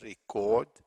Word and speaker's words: record: another rule number two the majority of verbs verbs now consisting again of two syllables are stressed on the last one so verbs on the second two syllables means second syllable the last syllable is stressed let's have some examples like record re is the first syllable the second cell is caught that's the one that is stress record second example the first